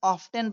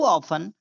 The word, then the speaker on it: often: बहुत सारे बच्चे इसे ऑफ्टन पढ़ते हैं, जो कि गलत है। यहाँ पर टी साइलेंट है, यानी हाउ ऑफन।